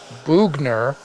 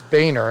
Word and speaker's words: Boehner: name but the Canadian branch of the family pronounces it bugner and we pronounce it Boehner as in limb see I knew it from